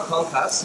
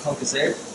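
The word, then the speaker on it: concassé: Now, as you can see, I've got some fresh tomato concasse, or concasse, depending where you go from, what way you want to pronounce it.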